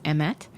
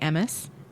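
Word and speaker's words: אמת: That is funny because the Hebrew word for truth is emet, or if you use it in a slightly more Ashkenazi pronunciation, say emes.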